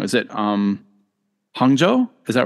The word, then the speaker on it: Hangzhou: I'm gonna say is it I'm I'm gonna pronounce it wrong is it um Hangzhou is that right yeah Hangzhou yeah I did say it okay and yeah